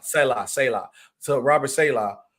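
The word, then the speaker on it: Saleh: The defense was definitely heavily tied to the Robert Sahi. I think I said it right. Selah. So Robert Selah. Salah.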